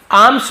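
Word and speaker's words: alms: यानी सौंप देना, सौंप दिया, हिज यानी अपने, आर्म्स पॉट, ये आर्म्स आपको बताया था ना साइलेंट होता है, तो इसे हम आर्म्स बोलेंगे,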